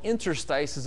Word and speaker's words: interstices: And it's kind of a hard word to find in the dictionary unless you know how it's pronounced, but there's a I-N-T-E-R-S-T-I-C-E-S, interstices.